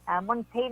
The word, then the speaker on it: Montagne: Montaigne ang pag-pronounce, alang-alaman na nga Maureen Montagne, titi daw mix ini siya, di ba?